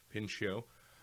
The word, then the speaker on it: Pinchot: back in 1978 by Guilford pin shoe I believe is how you pronounce it Pinchot the third and he it's Gifford